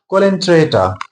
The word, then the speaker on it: Coelenterata: Most probably but actual pronunciation is colentrator.